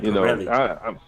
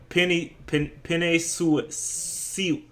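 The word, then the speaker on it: Penei Sewell: He called that man Pirelli. His name, Penny Sue.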